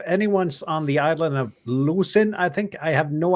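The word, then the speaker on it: Lošinj: I think it's Lushin. It's Lushin, like...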